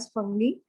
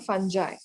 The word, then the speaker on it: fungi: तो maximum people they से this as फंगी, इट is called फंजाई.